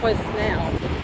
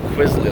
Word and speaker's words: Quesnel: Quizznell or Kisnell. Quizznell. Yeah. See? That's what it says. It's not what you said at all. You said Quizly, like it had a Y in it.